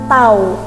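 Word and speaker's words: τ: gaya atau torsi nah simbolnya seperti teman-teman Bacanya adalah tahu apa bacanya tahu Nah dari sini dapat kita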